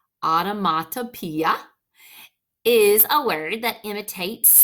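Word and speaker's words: onomatopoeia: So looking here, it says an automatopoeia, pronounced automatopoeia, is a word that imitates the sound it describes.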